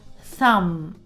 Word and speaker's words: thumb: For example, thumb or crumb, bomb. In all of these words, B is silent.